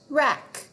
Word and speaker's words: wreck: Remember when W is followed by R, the W is silent. So we just hear the sound. Ready? Wren, wrap, wreck.